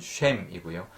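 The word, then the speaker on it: שם: 맞춘 것처럼 보이지만 원어에 히브리 원어가 비슷한 그 발음이기 때문에 그렇습니다 이름은 셈이고요 기름은 쉐멘입니다 그래서 shame sheman보다 쉐미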